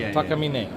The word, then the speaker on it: Takamine: what else you guys got here now uh take a meeting now is that the proper pronunciation that's what I always thought Takamine yeah it's Japanese one of the only really